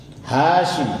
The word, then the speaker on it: Hashim: Muhammad bin Abdullah bin Abdul Muttalib bin Hashim, bukan Hisham, Hashim bin Hashim bin Abdi Manaf